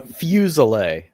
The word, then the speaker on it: Fuselier: It's uh Fuselet.